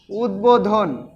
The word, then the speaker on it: উদ্বোধন: ফলা অবিকৃতভাবে উচ্চারিত হয় যেমন আমরা লিখতে পারি উদ্বোধন উদ্বোধন দেখো দেখো উদ্বোধন উদ্বোধনের সাথে কিন্তু ব রয়েছে কিন্তু ব এর কিন্তু অবিকৃতভাবে উচ্চারিত কিভাবে হচ্ছে দেখোতো উদ উদ বোধন এখানে হসন্ত দিতে হবে বোধন এখানে কিন্তু দুইটা